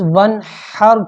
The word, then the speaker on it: ونحر: تو اس ونحر کی ہا کے ساتھ اس کو نہ پڑھیں گے نا ونحر پڑھ دیا تو نماز ٹوٹ جائے گی. یہ تلفظ کے صحیح قرآن پڑھنے کتنا ضروری. تو اس کو ونحر یہ والی بات بچے کو خاص طور پہ یاد کروائے. ونحر پڑھے ونحر نہ پڑھے.